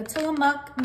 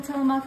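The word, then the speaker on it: Tillamook: cheese I'm using the tillamuk Mexican for cheese I said it right this time you guys got to give me credits in the comments for saying till them up correctly okay and we're just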